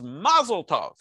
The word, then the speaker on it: Mazel Tov: And, you know, there's even differences on which syllable gets pronounced. So in Ashkenazi enunciation, it's Mazel Tov.